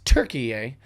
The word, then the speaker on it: Türkiye: Change the spelling, the pronunciation, the everything. They just changed it. So now it's Türkiye.